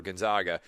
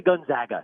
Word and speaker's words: Gonzaga: yeah i understand but most people just say gonzaga like the zags it's not the zogs it's the zags gonzaga